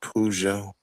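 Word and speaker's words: Peugeot: It's pronounced Pujo.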